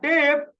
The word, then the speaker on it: debt: अ डेट, डेट DEBT, B silent होता है।